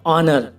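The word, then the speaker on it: honour: ऐसे और भी एग्जाम्पल हैं, जैसे बाइट, वाइट माने सफ़ेद, वाट, वाट माने क्या, और ऑनर और आवर में देखो गाइस, एच स्टार्टिंग में है तो ये एच साइलेंट है।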